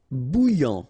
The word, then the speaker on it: bouillant: Bouillant, final T not pronounced. A and together, remember, nasal, en, okay? And then here you get bou, alright? And after that you get this yan, okay?